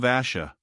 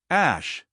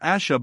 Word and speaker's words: Ash: of the kin of Asha we return to the hill Ash not Asha but Ash Ross though sure of